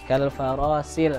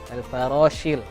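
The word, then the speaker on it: كَالْفَرَاشِ: Kemudian di kalfaroshil mabthus, nah tadi terbacanya ke huruf sin ya. Nah, jadi kalfarosil terbacanya padahal shil agak tebal. Ada namanya sifatul huruf sin itu tafashi. Nah, jadi harus kayak apa? Kayak menyambur modelnya itu tafashi. Nah, jadi kalfaroshil seperti itu ya.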